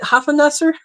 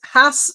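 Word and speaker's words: Hasenpfeffer: I prefer biscuits, but I think it's traditionally made with is it Hopfenpfeffer? Hopfenpfeffer? Hopfenpfeffer? What is it? Anyway, I'll try and pronounce it again once I see it. Yes, Hassenpfeffer. Hassenpfeffer. If Erica spelled it right, which I'm sure she did.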